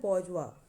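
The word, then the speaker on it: bourgeois: बौजवा। तो लेकिन इसकी थोड़ी प्रोनाउंसिएशन अलग है, लेकिन इसके स्पेलिंग आपको याद होने चाहिए। और अगर स्पेलिंग याद करने तो ऐसे बॉर्जियोस याद कर लो, ठीक है।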